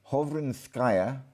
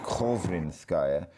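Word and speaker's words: Khovrinskaya: Hovrinskaya, sometimes pronounced Kovrinskaya, the Cyrillic doesn't translate,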